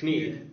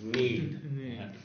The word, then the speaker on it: knead: Kneed. So this is spelled K-N-E-A-D, Kneed. Yeah. Uh-huh. And the pronunciation, if you're familiar with some other similar words like this in English... this word is pronounced need.